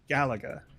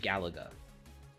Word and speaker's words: Galaga: it I think it's supposed to be said the way that you said it and the way that I said it is the result of me not growing up around video games so nobody was saying it and I just read it and that's that's the way that it got stuck in my head so if I if I think about it I would probably say Galaga uh but then just